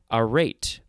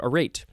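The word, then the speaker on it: arête: had to get out now we have a rate i think that's how it's pronounced um there it is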